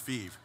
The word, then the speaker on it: Fives: And it's actually pronounced Fives, so it's a French company that now consists of the old Cincinnati Millicron, Giddings and Lewis, Forrest Linné Machines, and Len Engineering.